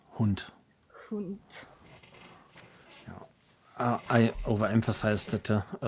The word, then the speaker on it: Hund: Hound, sort of, but it's pronounced differently. Yeah, you aren't wrong. Something's different with the vowel sound, and I don't remember what. It's Hund.